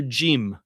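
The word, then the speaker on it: ج: Arabic, we would say This would be pronounced as a J, okay? And it corresponds to the Hebrew letter Gimel, which is like the G in, uh, I don't know, the name Greg, okay? Greg, okay? Now, what's interesting about these languages is that in Egyptian Arabic, the jim is often pronounced as a g, just like it is in Hebrew.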